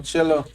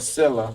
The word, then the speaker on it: Silla: Appreciate that encouragement there on Chilla, encouraging G. Or Silla, that's how you say it, Silla.